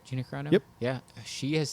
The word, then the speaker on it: Gina Carano: Gina Carano?